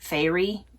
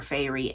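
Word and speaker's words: Feyre: I think it's like Fairy. That's what I'm going with. If I'm wrong, I'm so sorry.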